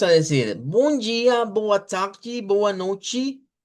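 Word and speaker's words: noite: especial y es que la t en el portugués de Brasil se pronuncia como que fuese una CH. Esto que ven acá, este es el fonema de la ch. Entonces suena como chi. C chi chi.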